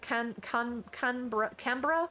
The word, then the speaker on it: Canberra: Is it a koala by the name of Canberra? I believe is how my Aussie friend said I'm supposed to pronounce that.